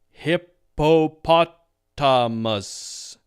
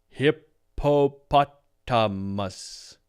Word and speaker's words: hippopotamus: a robot as I have been so far hippo poot amus hippopotamus hippopotamus sounds unnatural right all right let's try